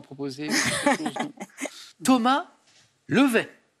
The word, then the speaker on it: Levet: Thomas Levet. Avec un T à la fin, je ne crois pas qu'on prononce Thomas Levet.